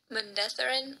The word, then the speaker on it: Manetheren: Manetheren. Ma-neth-er-in. Manetheren. Manetheren? Manetheren. Wow, that wasn't so hard. Manetheren. Okay, so the stressed syllable is the N.